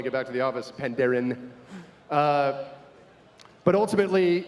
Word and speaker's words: Pandaren: There will be Pandarians there. I just pronounced plural with an S. That's so bad. I'm going to get rolled when I get back to the office. Pandaren.